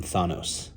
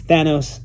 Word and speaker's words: Thanos: that is Thanos right when I was a kid I used to call him Thanos um I didn't know how to pronounce it you know and then I saw the MCU and Jim Starin met him and it's Thanos and I love it and